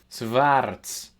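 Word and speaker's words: swarz: So, with Armitage's take on on this sound, it would be for example Schwarts, black. Wurdon, they became.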